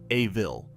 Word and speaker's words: Evil: A school superintendent is coming to Elmore Junior High, and this superintendent, a live-action human being named Superintendent Evil, pronounced A-vil, has declared war on cartoonish behavior.